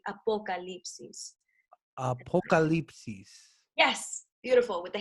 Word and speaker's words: Apocalipsis: But you gotta kind of like pronounce the O with the vowels, the Spanish vowels. So it's like apocalipsis.